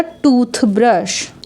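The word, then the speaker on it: toothbrush: आए ए के तुरंत बाद कंसोनेंट हो तो वहां पर हम टी एच को थ रीड करते हैं अगर दोनों साइड वावल होता है तो द रीड करते हैं यहां पे दोनों साइड वावल नहीं है तो हम द रीड नहीं करेंगे यहां पे हम थ रीड करेंगे तो हो जाएगा टूथ ब्रश नेक्स्ट है टी एच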